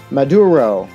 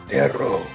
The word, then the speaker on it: Maduro: Maduro. I'm thinking, is it like a rolled R? Like Maduro? I'm sure it is.